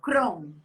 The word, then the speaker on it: Kron: Não, o sobrenome do pseudônimo é Kron, Kron Crown mesmo. mesmo. Pronuncia Crown.